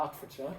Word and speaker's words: Hertfordshire: I have no idea if this is pronounced. It's just north of London, Hertfordshire. Yeah, Hertfordshire, okay.